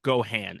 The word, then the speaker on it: Gohan: today he is playing grandpa Gohan or Goan as they pronounce it in the movie uh yeah when yep